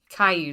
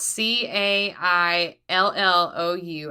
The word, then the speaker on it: Caillou: Caillou spelled C A I L L O U. I get that it's French, but if you had never heard anyone pronounce it, there's no way that's what you would think.